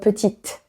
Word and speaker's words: petite: But if there is an additional I, donc la lettre E, after, then you do pronounce that T. Okay? Donc petite, because you have that final I.